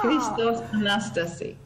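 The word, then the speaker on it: Χριστός Ανέστη: Christo Anastasi. Aha! Christos Anastasi.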